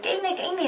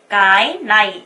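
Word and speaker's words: cái này: 이 this 이거 가이나이 이것도 선생님 제가 베트남 가니까 많은 베트남 사람이 게이네이 막 이렇게 발음하는 것 같아요. 그렇게 발음하면 절대 안 되죠. 가이나이 까이나이 이거를 굉장히 빨리 해서 까이나이 까이나이 이렇게 발음하셔야 돼요.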